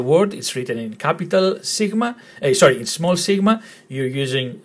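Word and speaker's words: σίγμα: It's letter sigma, sigma, sigma. Now, you might be confused here as to why it's spelled three different ways.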